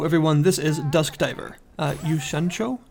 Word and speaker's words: 酉閃町: Yushancho, I believe is how you pronounce the sort of subtitle that you see there.